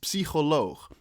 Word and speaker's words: psycholoog: How you say it is psycholoog. It's a Dutch word, and I find it really damn funny because I just had a conversation and I noticed a lot of people can't say the ch, or the Dutch noise.